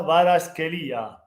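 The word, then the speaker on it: Kvaratskhelia: Ciao Bubu, Bubu si pronuncia Varaschelia.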